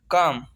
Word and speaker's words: calm: चौथा रूल है, अगर किसी लफ्ज़ में MFKD से पहले एल आता है तो एल हमेशा साइलेंट होगा। जैसे काम, CALM, काम, पुरसकून।